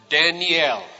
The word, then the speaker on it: Daniel: The name Daniel has 3 syllables. You pronounce it Daniel.